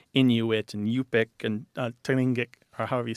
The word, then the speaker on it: Tlingit: 29 for Inuit, 3 for Yupik, and 5 for Tlingit. Or Tlingit, some people say it.